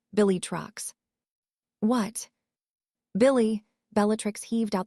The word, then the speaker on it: Bellatrix: Well, then how do you pronounce it? Harry turned to glance at Sirius while Bellatrix's voice got all husky and sexy. It's pronounced Billy Trucks.